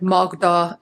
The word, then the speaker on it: Magda: of other languages and Rix gives the suggestion to make it sound like the aw in words like Baltic or salt. So, that's why I'm pronouncing words like Magda and Katalin the way I am.